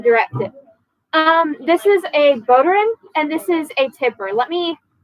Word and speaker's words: bodhrán: Yeah, but it's pronounced like a bow running down the street. Bow. Yeah, so like it's bodhrán, but it's spelled like that.